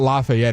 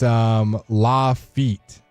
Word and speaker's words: Lafitte: It's not Lafayette. It's John. It's Lafitte. No wonder we got it wrong.